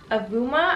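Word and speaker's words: Avauma: These are by the brand Avuma, I believe is how you pronounce it. So it's A-V-A-U-M-A.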